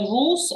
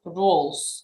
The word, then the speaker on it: rule: You said rules. I like roles. It's rule. Rules.